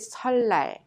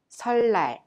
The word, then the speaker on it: 설날: So you pronounce it 설날. This is the way we pronounce it. Repeat it. 설날, 설날.